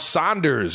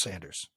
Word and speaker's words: Sanders: Is it not Zach Saunders? Pascal, Isaac Seumalo, Miles Sanders. It's Sanders.